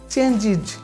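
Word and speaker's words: changes: অনুরূপভাবে এখানে হবে ডান্স, দন্তস্য পেয়েছি সেক্ষেত্রে আমরা এস যোগ দেওয়ার কারণে এই উচ্চারণটি হবে ডান্সিজ, এখানে হবে चेंज তাহলে এস যোগ দেওয়ার কারণে এই উচ্চারণটা হবে চেঞ্জিজ এটা হচ্ছে কজ সো এই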